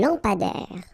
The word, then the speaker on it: lampadaire: Un lampadaire. Final not pronounced. Un lampadaire.